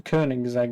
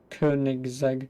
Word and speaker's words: Koenigsegg: course I don't whatever you pronounces I know it's the kerning zag isn't it was it the Koenigsegg yes the Koenigsegg isn't it not just